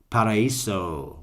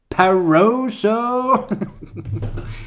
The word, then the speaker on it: Paraíso: I got a little accent on the I. That's how you know you live in an exclusive building, when it's hard to say for the riffraff. They're all going, Paraíso? Paroso? Paraíso.